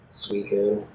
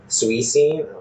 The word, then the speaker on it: Suicune: Suicune. Suicune?